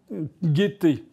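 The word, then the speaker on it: Guetté: J'ai vu que hier, j'ai épinglé dans un tweet Madame Guettet. Madame Guettet, ça s'écrit pas comme la gaieté, ça s'écrit G-U-E-T-E.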